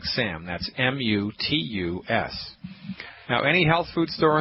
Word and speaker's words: mutus: Second word, mutus. M like Mary, U. T like Thomas, U. S like Sam. That's M-U-T-U-S.